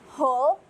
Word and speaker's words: whole: Kemudian, keseluruhan dalam bahasa Inggris itu adalah whole, not whole. WHOLE itu cara membacanya whole, not whole.